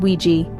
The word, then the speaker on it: WG: apartments or shared Apartments also known as wgs pronounced wi these options can provide